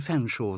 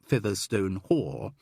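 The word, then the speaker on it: Featherstonehaugh: one need only mention chumley's both chomple and fanshawe spelled featherston though there is further confusion with this last because some owners of that surname do insist on pronouncing it featherstone carol couldn't help smiling yes gerald i think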